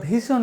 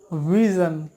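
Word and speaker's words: vision: আই ও এন ভিশন যেটা আমরা ভিশন বলি ভিশন ভিশন না হবে ভিজন ভিশন ভিশন you have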